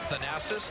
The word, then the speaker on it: Thanasis: out of the daily thanasis like jackie onassis and antenna kumpo doesn't